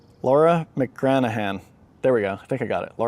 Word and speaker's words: McGranaghan: So Laura McGranaghan, wait, let me pronounce this right, silent G. Laura McGranaghan, there we go, I think I got it, Laura McGranaghan.